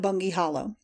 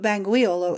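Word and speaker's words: Bangweolo: Boggle at it or call it bungy Hollow some Arabs say bambo as easier of pronunciation but bangu Olo is the correct word Chum's Stockade is 1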